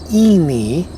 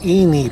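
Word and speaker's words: Enee Point: she was telling me the correct pronunciation is ini so it's any point um but apparently a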